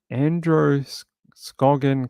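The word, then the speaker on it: Androscoggin: the family is believed to be in the Andrew scogan area is that how you pronounce that uh and Andro scogan County okay and they said anyone who knows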